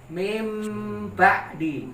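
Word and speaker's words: مِن بَعْدِ: Contoh min ba'di. Nah. min ba'di. Ba'di. Nah, tulisannya min ba'di. Tapi dibacanya pakai huruf mim. Mim ba'di.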